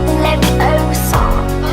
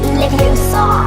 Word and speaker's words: Leviosa: Besides, I'm saying it wrong. It's Leviosa, not Leviosa. Stop.